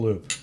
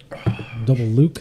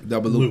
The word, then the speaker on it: Double Loop: Am I saying it wrong? Double Luke. Double loop, yeah. Loop. So Loop like circle. it's like the roller coaster.